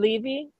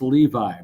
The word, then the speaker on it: Levy: text from people inside it's pronounced Levi but I can't fall